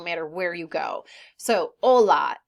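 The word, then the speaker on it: hola: where you go so Ola in Spanish they do not pronounce their hes when they're at the beginning of a sentence Ola is hello buenos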